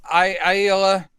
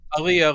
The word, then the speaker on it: Aaliyah: Because Aila, is that how you pronounce the name? Aila. Aaliyah? Aaliyah, let's go with that.